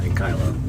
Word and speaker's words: ankylo: It's made of ankles. It's a cankalosaurus. Actually, that's just made of cancel. What does he say? He's saying ankle as opposed to ankylo. That's not what it is, Dad.